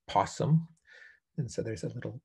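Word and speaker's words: PSSM: scoring matrix and we we pronounce it as possum and so there's a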